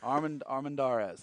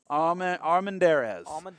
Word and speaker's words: Armendariz: I'm not going to say how I said it because apparently it's Armendariz. Where is Brooke Walker? Armendariz.